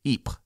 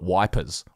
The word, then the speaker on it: Ypres: british spelt it during the time and they pronounced it eep now i've got to say a lot of